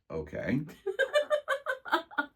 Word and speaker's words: OOAK: they can like uh ftiz it Oka okay there's not an a at the end it's not Oka Oak